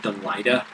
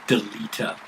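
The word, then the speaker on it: Delita: religion in this game i used to pronounce that delighter until the psp told me it was a deleter like you are deleting some stuff what okay can't even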